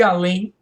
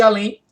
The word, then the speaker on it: além: Você não diz além, você diz além. Então, oxítona em EM.